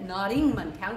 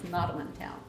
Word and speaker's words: Nottamun Town: Anyway, Nottamun Town, and I always sang it Nottingham Town because I thought people made a mistake and were saying it wrong. But they didn't. It was Nottamun Town.